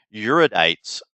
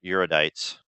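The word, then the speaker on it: Erudites: us this is where the euridites started in the correct pronunciation of the term i believe although we call them eurodites or arudites i guess for the sake of novelty of the game pronouncing it differently all right so now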